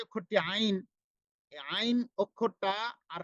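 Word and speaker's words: ع: এরপরে উচ্চারণটা হচ্ছে র র র। এরপরে যে অক্ষরটি আইন, এই আইন অক্ষরটা আর হা, এই দুটা অক্ষরটায়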